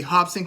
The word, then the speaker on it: Robson: Brazilian, the Portuguese language, you'll see a lot of people who have like an R in the beginning of their name, but it's pronounced with a H, like Royce Gracie.